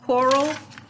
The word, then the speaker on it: choral: Before we begin, I want to remind you that we're going to practice something called choral reading in this book. Choral, kind of like chorus where the H is silent.